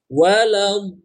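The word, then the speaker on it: وَلَا الضَّالِّينَ: Jadi bacanya harus panjang. Plus kita harus sudah masuk kepada tasydidnya. Saya ulangi. Waladdallin.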